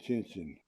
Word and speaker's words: Tchin Tchin: It's usually FR07, Tchin Tchin, Tchin Tchin. That's how they pronounce it, Tchin Tchin.